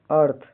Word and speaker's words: earth: EARTH का उच्चारण pronunciation अर्थ, यहाँ ईयर की ध्वनि अर जैसी होती है, जीव दांतों के बीच रखकर हल्की हवा निकलती है।